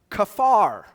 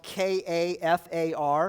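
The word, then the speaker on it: כפר: of Leviticus the Hebrew word for atonement is pronounced kafar in English it looks like it's spelled k a f a r of course in Hebrew that's entirely different lettering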